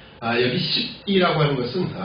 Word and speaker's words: 십: 여기 십이라고 하는 것은 정확한 발음은 집이라고 하는 것이 맞고요.